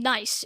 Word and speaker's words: gneiss: the language you would i mean you don't normally have a gn at the beginning but i guess this one just has it and then the e i is well that's very common in german words and the ss is also sort of common so what does that